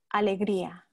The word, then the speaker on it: Alegria: works um are written under that name so it's spelled a l e g r i a alegria exactly david i see alegria yes you're welcome